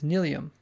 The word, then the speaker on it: Nylium: So just remember every time I'm talking about this block, it is Nelium, and not whatever else I'm saying.